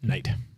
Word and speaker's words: Knight: You have to call him Bam, but we have to say it like emphatically. Bam Knight. Night.